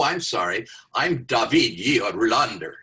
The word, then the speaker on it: Rohlander: And then the last name is Rolander, but the way they pronounce it at le my my attempt to pronounce the way they do is Rander.